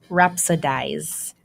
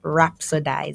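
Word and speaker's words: rhapsodize: And the word for today is rapsidize. That's our word, rapsidize. It's spelled R H A P S O D I Z E.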